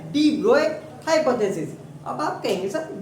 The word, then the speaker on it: de Broglie: तो student डी ब्रोगली English में इसकी प्रोनाउंसिएशन है ब्रोगली, but French this is an French word. तो फ्रेंच वर्ड है तो इसका करेक्ट प्रोनाउंसिएशन है क्या? डी ब्रोए hypothesis.